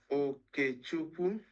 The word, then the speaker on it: Okechukwu: so that the presenter would know how to pronounce it properly. My name is Okupua.